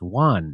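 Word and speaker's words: yuan: in their own denomination I think it's like it's pronounced Juan now that's from March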